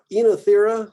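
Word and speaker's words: Oenothera: Oh, Ossimum, Enothera is how this one gets said. So it's kind of the two vowel construction becomes a longer E here. Enothera.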